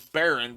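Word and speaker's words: Barin: hood-ish Prince Marlin Marlin I thought they were saying Baron the whole time but if they're saying Baron idiot oh it is Barren but it's spelled b-a-r-i-n it's spelled differently and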